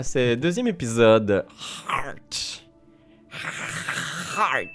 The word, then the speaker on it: Heart: Heart, ça se dit bien. Hein? Oui. Avec le H, c'est pas un H muet, celui-là.